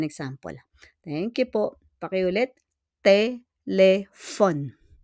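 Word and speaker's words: téléphone: thank you po pakiulit telephon the proper pronunciation is telephon mero So let's continue with numero telephone.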